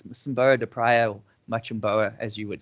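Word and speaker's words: Mocímboa da Praia: When I first heard of this place, I was calling it Machimboa de Praia. So it's Machimboa de Praia, or Machimboa, as you would say, probably more legitimate than myself.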